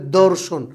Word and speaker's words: দর্শন: যেমন আমরা যদি বলি ধর্ষণ ধ এটা একটা মানে খুব শক্ত একটা উচ্চারণ। এটাকে যদি হালকা করে উচ্চারণ করা হয় তাহলে দর্শন হালকা।